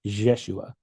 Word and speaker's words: Yeshua: And my memory is it's it's the pronunciation of it is like a mix of the two. It's like a Yeshua.